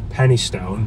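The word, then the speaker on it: Penistone: um saying that there's a place in Manchester called pennystone but it's spelled penis Stone so penis tone sorry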